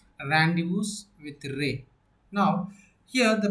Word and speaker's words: rendezvous: rendezvous not a rendezvous so what is the exact pronunciation of the word is here randus with ray now here